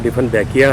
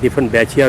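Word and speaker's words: Dieffenbachia: इस प्लांट का नाम डिफनबैकिया है। आम तौर से कुछ लोग इसके बारे में ये भी कहते हैं डिफनबैचिया भी प्रोनाउंसिएशन होता है उनका।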